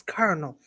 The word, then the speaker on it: colonel: the way she looked at me and then she was like, "It's Colonel." And I'm like, "Where is the R?" That's just how you pronounce it.